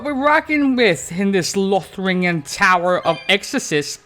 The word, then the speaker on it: Lothringen: See what we're rocking with in this Lothringen Tower of Exorcist, or Loringen, because the T is silent, isn't it?